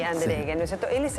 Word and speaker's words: Andereggen: Bueno, estamos finalmente con el doctor Javier Pedro Andereggen, para pronunciar bien su apellido, pues se escribe con doble G, pero es como si tuviese una U ahí, Andereggen, ¿no es cierto?